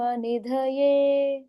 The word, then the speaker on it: निधये: नमो व नमो व ब्रह्म निधय ब्रह्म निधए नमो व ब्रह्म निधए नमो व ब्रह्म निधए वय नहीं सिर्फ व नमो व ब्रह्म निधए